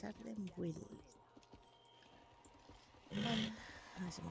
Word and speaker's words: Ardenweald: Me pronuncian Ardenwild. Yo decía Ardenberg. Pues es Ardenwild.